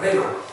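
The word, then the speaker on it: rhema: Se escribe así, R-H-E-M-A, rema.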